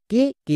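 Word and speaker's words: cake: সি এ কে next কে কে এর জন্য কো এবং শেষের ই সাইলেন্ট। তাহলে কি হল? সি এ কেই কেক।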